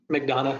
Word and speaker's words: McDonough: is the market of madano Georgia did I pronounce that right McDonough yes that's right I really like we've